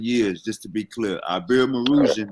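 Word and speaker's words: Iberomaurusian: Ibero-Marusian, that's how you say it, Ibero-Marusian.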